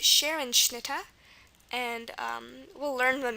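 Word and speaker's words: Scherenschnitte: the I bill dunks Roman another example is Sharon schnit Sharon sh Sharon s c h e r n s h n i t t e this is pronounced Sharon schnit and um we'll learn when we do the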